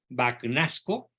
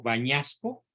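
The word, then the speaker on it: Bagnasco: por este gran cardenal vacunasco O tal vez se pronuncia en italiano bañasco sí Y dice Espero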